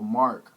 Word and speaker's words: Mahrk: Now in terms of the way we spell it, we just spell it phonetically. So the way you phonetically spell Mahrk is Mahrk.